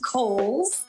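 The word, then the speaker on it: Cowles: the city we love so much it is pronounced kohl's uh george cole was a an early land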